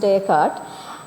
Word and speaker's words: Descartes: He's French philosopher called Descartes or Descartes but it's pronounced Descartes.